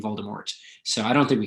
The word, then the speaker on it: Voldemort: So the author has said that it should be pronounced Voldemort because that resembles the French phrase Voldemort, which means flight of death, or perhaps thief or stealing of death.